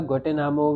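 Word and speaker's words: Guantanamo: हम कह सकते हैं ग्वेंटेनोमा। ग्वेंटेनोमा, ठीक है ना। इसका नाम है ग्वेंटेनामो, सॉरी, प्रोनाउंसिएशन में थोड़ी दिक्कत है, लेकिन देखो ध्यान से, ग्वाटेनामो, ये जगह है ग्वाटेनामो वे।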